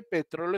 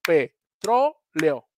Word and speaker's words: petróleo: es así porque licirabicamente petróleo es una como petroleo no es correcto no es correcto cuando